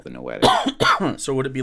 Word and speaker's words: noetic: the the no addict realm n-a-n-o-a-d-i-c no noetic noetic how do you spell it um give you the proper spelling here just so that you've got it it's n-o-e-t-i-c n-o-e-t-s-e okay noetic okay and what is that